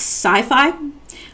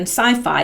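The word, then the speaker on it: CyPhy: excuse me okay I think this is pronounced sci-fi built a tethered drone that can monitor an area for days at a time sci-fi pronounced sci-fi okay yeah it is it is the proper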